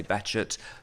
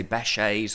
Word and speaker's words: Behçet: is a relatively common name in Turkey it's pronounced that way so that's why we say betet but you can say bashes or any variation that you like uh and